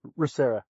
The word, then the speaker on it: ReMA: How do you pronounce that correctly? ReMA.